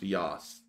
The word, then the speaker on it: Yas: their phonetics very well, because Y-A-S would not be pronounced Yas. Like, straight up, it would not. That would be Y-O-S. That is clearly Yas.